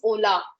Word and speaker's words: hola: अगर शुरू में आता है जैसे HOLA is ओला, हेलो को हम ओला बोलते हैं, तो H जब शुरुआत में आता है तो साइलेंट होता है, बीच में आता है H तो वो उसको हम प्रोनाउंस करते हैं.